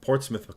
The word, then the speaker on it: Portsmouth: you for saying uh thanks you for saying Portsmouth correctly um like the word p-o-r-t-s-m-o-u-t-h uh just